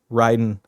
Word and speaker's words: Raiden: of metal gear right Raiden is Mortal Kombat Ryden is Metal Gear they spell the same pronounce differently it's a whole thing